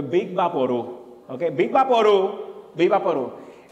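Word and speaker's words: Vicks VapoRub: It's not Vicks. It's a Big Vaporu.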